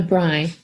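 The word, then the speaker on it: braai: so you called it uh a what a bry yeah it's it's spelled b-r-a-a-i oh yeah okay i have actually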